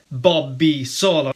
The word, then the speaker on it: Bobby Solo: lacrima sul viso by famous Italian singer Bobby Solo, and I'm pronouncing his name the Italian way.